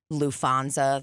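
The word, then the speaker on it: Lufthansa: So we're hanging all the time, and we're laughing about LouFanza, the airport.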